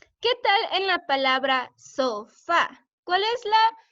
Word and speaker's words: sofá: ¿Qué tal en la palabra sofá? ¿Cuál es la sílaba que hace más ruido, que está más fuerte? Sofá. ¿Sería so o sería fa? ¿Qué piensas, Cecia? ¿Ah? Fa, sería fa, muy bien.